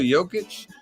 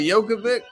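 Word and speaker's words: Jokić: You talking about Nikola Jokic? Yeah. You say Jokovic? Come on, man. You got to pronounce his damn name right.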